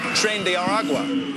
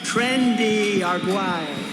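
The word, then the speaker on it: Tren de Aragua: ICE has been rounding up any immigrant who they suspect is a member of the Venezuelan gang trend aragua or as Trump pronounces it trendy arua sor.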